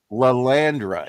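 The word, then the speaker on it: Lilandra: Lalandra, yeah.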